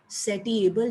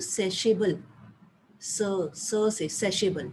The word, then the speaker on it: satiable: एक फर्स्ट है each particular want is सेशेबल, एक वर्ड दिया हुआ ना SATIABLE, सेटिएबल नहीं कहना उसको, दैट इज प्रोनाउंस्ड एज सेशेबल, से सेशेबल, ठीक है।